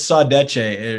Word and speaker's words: saudade: It's saudade.